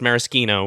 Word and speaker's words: Maraschino: they're like, oh yeah, the liquor is pronounced Maraschino with the hard like CH or K sound as you would in Italian, but the corruption of